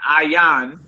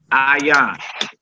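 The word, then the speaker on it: ayin: The next letter is an ayan, and it's a silent letter like your Aleph symbol.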